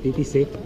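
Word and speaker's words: Titisee: Se llama el lago Titisé, ¿no? ¿Lo he pronunciado bien? Sí, Titisé.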